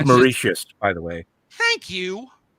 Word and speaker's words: Mauritius: snack for Dutch settlers on the island of merit is that last one I'm sure I completely butchered I no one's bringing in I'm gonna